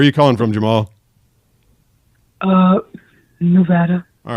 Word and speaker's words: Nevada: and they were like we do not say Nevada we say Nevada so I had to recut a whole series of promos because I said it wrong did you know that